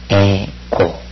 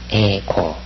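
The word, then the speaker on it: ἐγώ: 생각해 둬야 됩니다 그다음에 11번 에고 고가 아니라 에고 그죠 12번 쉬 이것을 수라고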